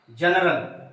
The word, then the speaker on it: general: ये जनरल।